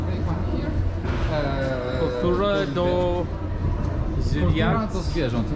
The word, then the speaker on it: zwierząt: Kultura do zwierząt.